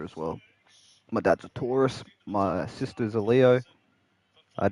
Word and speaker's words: Taurus: tourist. W tourist. Did I say Did I say it wrong? Taurus.